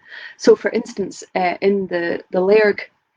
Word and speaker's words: Lairg: So for instance, in the Lairg, I can hear everybody in Lairg correcting me to Lurg pronunciation.